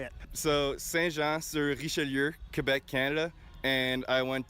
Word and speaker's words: Saint-Jean-sur-Richelieu: So, Saint-Jean-sur-Richelieu, Quebec, Canada, and I went to Académie Les Estacades in Trois-Rivières.